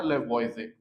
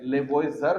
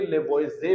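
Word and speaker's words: Lavoisier: आगे जो बात हम करेंगे वो करेंगे 1787 में एक साइंटिस्ट था उसका नाम था लेवोइजे। ये आर इसमें साइलेंट है। लेवोजर नहीं पढ़ेंगे। लेवोइजे पढ़ेंगे।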